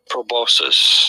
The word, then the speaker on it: proboscis: people of science say it as proboscis. You were right. You were totally right. I'm sorry. I doubted that. You were right. That's how most I said scientific people say it, so I'm gonna say it like that.